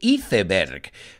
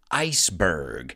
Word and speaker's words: iceberg: all know because well you say etheberk but we pronounce it iceberg and the word ahoy